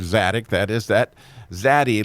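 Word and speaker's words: צדיק: And so when you hear that TZ sound at the beginning of the word tzaddik, that is that zaddy letter.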